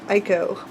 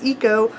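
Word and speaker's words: Iko: Eco, the android character, who I thought was pronounced Ico, but when I went to a Marissa Meyer event, she pronounced it Eco, so I'm going to take the author's pronunciation on it.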